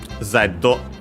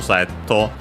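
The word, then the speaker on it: ゼット: But for Zetto, yeah, it's on the first syllable as expected.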